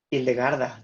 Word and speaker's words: Hildegarda: Sí, entonces entiendo que lo que quiere resaltar es que Hildegarda, ¿sí lo pronuncio bien? Hildegarda, claro.